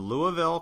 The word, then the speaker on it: Louisville: the DS marketing summit I'll be down in Louisville Kentucky as I say it right no yep